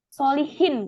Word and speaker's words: Solichin: Nah, ini kan cara bacanya gimana? Solihin kan?